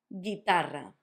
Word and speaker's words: guitarra: We'll do the G-U-E, G-U-I, so ge, gi, like this. The words that I'm going to use are going to be guerra, not guerra. Also, notice the double R because it's between two vowels. Guerra and guitarra. Guerra, guitarra, not guerra, not guitarra. Guerra, guitarra, because it's got the U.